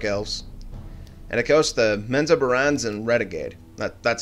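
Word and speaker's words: Menzoberranzan: And of course, the Menza Barans and Renegade. That's how you pronounce it, believe me.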